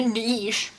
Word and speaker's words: niche: It's The either correct pronunciation of niche can be either niche or niche. a niche. I like to say niche.